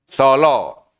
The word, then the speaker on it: Sala: kalau yang bacanya tadi tulisannya apa pakai a ya pakai a ya solo solo ucapannya tetapi tetapi Ketika saya belajar